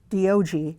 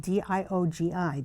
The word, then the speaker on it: Diogi: And then the other one is, of course, Diogi. That's spelled D-I-O-G-I. Diogi, sound it out.